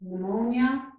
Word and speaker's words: pneumonia: So when PN begins a word, we get the N sound. So the letter P is silent. This is pneumonia and pneumatic.